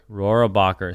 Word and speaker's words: Rohrabacher: Rohrabacher. So congratulations to Anna Bright and Rachel Rohrabacher, because look at Anna copying me with the neon green shoes.